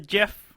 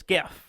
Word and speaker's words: GIF: that says gift yeah gif it's Jeff and Jeff Jeff how do you say it Jeff it's not yeah it is just it's not it's just are you do you really say Jill I do say I've always said gift you're wrong it's gift